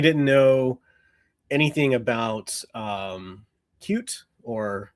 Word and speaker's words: Qt: about um cute or QT as some people say. I say both just to annoy everyone. I so I tend to say cute now to someone who doesn't know that's how it's pronounced and then I'll say